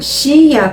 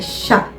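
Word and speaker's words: しゃ: A gente não vai pronunciar Shia, tá? É Sha.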